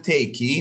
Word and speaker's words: take: مثال take، احنا نقول تيكي، ننطق هذه، نقول تيكي، نقول تيك، ما تنطق الإي، فش أسوي؟